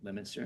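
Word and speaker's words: Leominster: Westminster Fitsburg um Lemon um how do you pronounce it? Lemonster.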